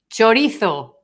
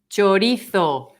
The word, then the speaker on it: chorizo: Chorizo.